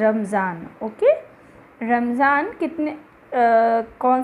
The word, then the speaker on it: Ramazan: Okay, it's नॉट रमदान, इट इज़ रमज़ान। Okay, रमज़ान कितने कौन सा मंथ होता है इनका, एक मंथ होता है, अभी होकर गया है रमज़ान, रक्षाबंधन के आसपास होता